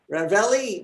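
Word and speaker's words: Ravalli: she has two counties ravelli which sounds like ravioli and minosulo counties in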